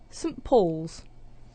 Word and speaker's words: Saint Paul's: thing first of all instead of saying saint with a strong pronunciation we're using the weak form sunt and then we have